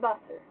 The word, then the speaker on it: Wasser: The W is pronounced like a V. Well, in any, it's always pronounced like a V. So it is pronounced as was and Wasser.